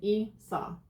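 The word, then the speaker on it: Isa: Issa. Pronunciation, Issa, meaning ice or frozen.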